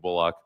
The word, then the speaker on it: Bullock: about him and Caitlin Bullock and I I know I a few of you say like why you emphasizing the the O and Bullock because that's the way he wants it pronounced and unless I really